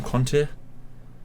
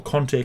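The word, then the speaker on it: Kanté: called ngolor kante and literally his his name is spelled k-a-n-t-e right okay so he's ivorian so i i think um for some reason they call him conte but you know what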